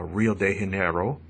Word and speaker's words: Rio de Janeiro: off with uh talking about uh Rio de Janeiro that's how it's pronounced in Portuguese uh Brazilian uh uh well Brazilian Portuguese I should say but any rate so